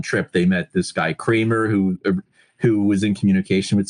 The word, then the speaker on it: Cranmer: It's spelled Cranmer. I mean, everyone I spoke with. So I went out to Pennsylvania, and I met some of his former neighbors. He died in the 60s in a house fire, and he was an old man at that time. But I met some of his former neighbors, and they confirmed it was Kramer. It's pronounced Kramer, even though it's right.